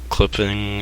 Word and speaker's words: CLPPNG: Like clipping, I don't know how to say that. I think it's pronounced, yeah. Clipping without any CLPPNG.